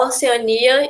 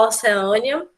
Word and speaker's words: Oceania: A Oceania e a Oceânia, xerox ou xerox, tá?